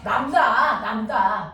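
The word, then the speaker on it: λ: 남다라고 읽어요. 기호를. 됐어. 남다.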